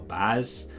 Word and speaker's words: Boaz: This stands for Boaz or Baz, and Yakin or Yakayin, depending on your Hebrew pronunciation, and mine's not brilliant.